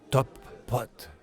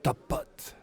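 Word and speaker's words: Topote: Youtube dernier réglage d'intendance top pote ça se prononce comme Top Gun en deux mots séparés moi j'ai fait un palindrome en installant un seul P au milieu de Théo et ôté mais ça se prononce top pote et quand on le dit vite c'est top pote ok prof on commence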